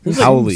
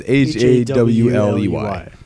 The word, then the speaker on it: Holly: Like Howley. some- Holly. Holly Now, not spelt with an H. Holly. like It's you like normally think. Yeah. HIRLEY. Something like that. I thought it was HAWLEY.